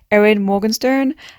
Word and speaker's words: Erin Morgenstern: making a youtube video i should learn how to say the author's name aaron morgan's morgenstern editing ava coming in just to say that i've learned how to say this author's name which is erin morgenstern i don't know i